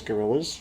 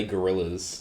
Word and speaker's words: Guerrillas: But by all accounts, it is pronounced the Los Angeles Guerrillas. Yeah, the LA Gorillas. But not the Guerrillas as you would think. Instead, more of like a, I guess, small mob mafia style.